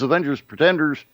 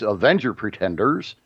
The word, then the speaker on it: Avenger Pretenders: This is Avengers Pretenders. I said it wrong. It's Avenger Pretenders.